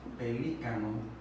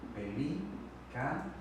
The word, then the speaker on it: pelícano: Si decimos pelícano, pelícano, la que suena con mayor intensidad es la antepenúltima.